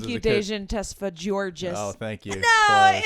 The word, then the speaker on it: Tesfagiorgis: Dejen Tesfagiorgis. Oh, thank you. No, Close. it's the hard G.